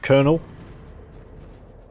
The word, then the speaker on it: colonel: here you I want you to get the colonel Kahlan all and research those staying ground it is pronounced Colonel I do know that Clawd fiend